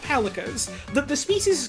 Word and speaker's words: Palico: It's like calico, but a pun, because Monster Hunter loves puns.